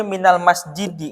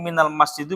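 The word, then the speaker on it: مِنَ الْمَسْجِدِ: Sehingga dibacanya minal masjidi. Nggak mungkin minal masjidu, minal masjidah. Ini salah. Ya, sederhananya begitu.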